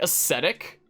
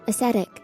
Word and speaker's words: ascetic: that I literally needed to like Google the pronunciation for this term? Wasn't it like ascetic? I'm Googling it again. I'm playing it. Ascetic.